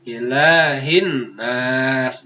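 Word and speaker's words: إله الناس: Ilahin nas, ilahin hinnas.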